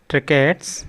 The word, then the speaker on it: tracheids: तो अगर हम इनकी चर्चा करें तो ये क्या थे, ये होते थे ट्रेकैट्स, ठीक है ना, जो है स्पेलिंग क्या थी, TRACHEID, ठीक है, EIDS, ट्रेकैट्स।